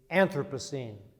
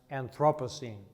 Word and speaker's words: Anthropocene: I'm going to speak for a moment or two about the concept of the Anthropocene, sometimes pronounced Anthropocene.